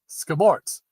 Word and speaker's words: Scamorza: to try pizza with scamosa. Excuse me. Doggone these hiccups. Okay, let's see. You got to try pizza with scamosa. Half scamosa, half mozzarella. Ask for it. Scamorts is how you pronounce it.